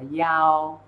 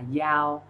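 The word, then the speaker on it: 一: Chúng ta sẽ đọc từng số một và nhớ cho thầy là số 1 đọc là giao. Tại sao số 1 lại không đọc là y?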